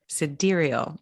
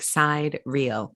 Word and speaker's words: sidereal: Sidereal. It's spelled like side real.